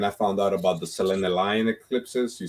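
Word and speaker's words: selenelion: time and then i found out about the selena lion eclipses you spell that s-e-l-e-n-e lion l-i-o-n selena lion eclipses and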